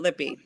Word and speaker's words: Lippy: And Lippy. Is it Lippy or Lip? How do you pronounce it? It's Lippy.